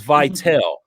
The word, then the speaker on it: Vitel: She told me exactly how to pronounce her name. It's Vitel.